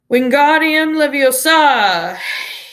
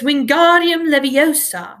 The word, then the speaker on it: Wingardium Leviosa: having much more luck Wingardium Leviosa he shouted waving his long arms like a windmill you're saying it wrong Harry heard and Hermione snapped its Wingardium Leviosa make the gone nice and long you do it then